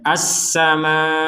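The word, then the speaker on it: السماء: Ya, huruf hamzah ini harus kita tekankan ke huruf hamzahnya. As-sama, seperti itu. Jangan sekedar as-sama, kan kurang gitu. Jadi ditekankan huruf hamzahnya as-sama. Jadi hurufnya yang terakhir adalah huruf hamzah. Kalau tidak ditekan seakan-akan menjadi as-sama. Itu kan hamzahnya tidak terbaca.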